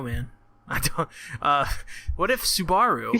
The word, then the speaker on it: Subaru: It's the correct way to pronounce it, people. It's in the dub. It's official. Subaru.